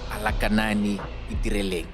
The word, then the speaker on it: Alakanani Itireleng: Ladies and gentlemen, let's welcome to the show this evening, Alakanani Itireleng. Yep. Did I pronounce it well?